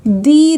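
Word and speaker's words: the: अगर पहला letter vowel है तो दी रीड करेंगे तो हमने यहां पर इसे रीड करना है दी एप्पल क्लाउड में सी कंसोनेंट है तो हम यहां पे टी एच ई को द रीड करेंगे द क्लाउड अब प्रैक्टिस के लिए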